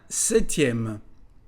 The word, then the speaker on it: septième: La lettre P ne se dit pas. Un septième.